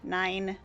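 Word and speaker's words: nein: The only German words you know are nine. Nine and ya is exactly how you pronounce it.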